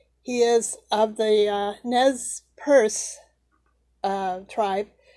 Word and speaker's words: Nez Perce: He is of the Nez Perce tribe. That's a French word. It means nose piercing. So I think it's pronounced Perce, Nez Perce.